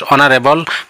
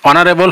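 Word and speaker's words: honourable: ইজ an elephant number two হি is dash অনারেবল ম্যান অনারেবল শব্দটি উচ্চারণ এস এর উচ্চারণ হওয়া নাই ওর উচ্চারণ হইছে হেই কারণে ইয়ার আগত এন বহিব ওদিকে এটুর অ্যানসার হবো হি ইজ অ্যান অনারেবল ম্যান see number that is dash picture picture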